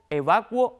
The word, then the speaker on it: evacuo: academias podemos afirmar que adecuar evacuar y licuar en el uso oculto suelen conjugarse más como averiguar o sea los hablantes cultos suelen decir adecuo evacuo IL licuo Pero insisto